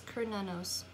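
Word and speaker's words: Cernunnos: So pronounce Kernanos, also known as Hearn, is a Celtic stag god who represents connection to the earth.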